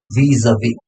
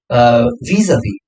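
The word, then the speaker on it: vis-à-vis: इसका pronunciation होता है vis-a-vis.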